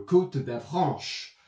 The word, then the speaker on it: Côte d'Avranches: En français, on dirait le Côte d'Avranche. And how I always find it is if you are pronouncing a French climb, you can, you know,